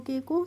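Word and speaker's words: cook: तो C double O के को सी से बन जाएगा का, और डबल ओ से हो जाएगी उ की मात्रा, और के से फिर क्या हो जाएगा? क। तो इसको कुक पढ़ेंगे।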